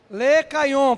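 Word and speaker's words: Lechaion: Le Caillon. Pode aumentar de novo, por favor. Tá aí, olha. Se escreve assim.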